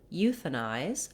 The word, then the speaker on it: euthanize: First of all, the word euthanize has first syllable stress.